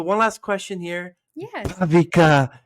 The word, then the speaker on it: Bhaavika: Bhavika Gaddam. Did I say it right? Yeah, yeah. Bhavika Gaddam.